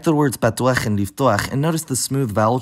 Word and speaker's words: לפתוח: For example, the word for open in adjective form is patuach, but in infinitive verb form, it's pronounced liftuach.